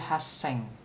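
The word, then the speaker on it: 八千: Nah, di 8.000 dia jadi haseng.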